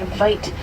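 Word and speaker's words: wyd: White rhino get their name from a mispronunciation of the Afrikaans word vite. Vite means wide, and not white refers to their wide and broad mouths, not their coloring.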